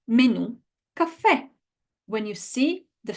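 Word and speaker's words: menù: Okay, guys, the correct pronunciation of these three words is città, città. Nazionalità. Nazionalità. Menu. Menu. And you know what? We don't need to guess it or to know it. The word tells us where the stress goes.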